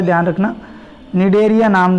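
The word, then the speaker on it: Cnidaria: दिया था निर्णय लिया नाम जॉन एरिया में साइलेंट रहता है ध्यान रखना नीड एरिया नाम जो है वह दिया था ओके खेल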